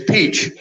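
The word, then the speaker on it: piç: word for bastard is peach and it is pronounced exactly as you pronounce peach in English and he said not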